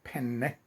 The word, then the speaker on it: penne: I'm using a short type of pasta like this penne with two ends, penne. Um, you want to pronounce it in a harder way.